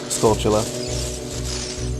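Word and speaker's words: Skulltula: how do you pronounce it? Because there's like Sculptula, Sculptula. Sculptula. Like tarantula. Yeah, I say Sculptula just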